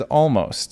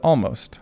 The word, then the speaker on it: Omost: It's supposed to be pronounced as almost. So even though it looks like almost, I'm going to call it almost.